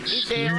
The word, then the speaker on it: Ideon: and Ideon, I think, is the other one I have sitting on my computer to watch. Ideon. Ideon, Excuse is you.